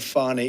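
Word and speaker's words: Fani: you very unfairly she goes by the name of fonnie even though it's f a n i she wants to pronounce fonnie she's little little French little French accent and her lover and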